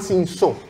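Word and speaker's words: Cinsault: acá y significa que se llama sinsó se escribe sin Saúl Entonces ustedes la encuentran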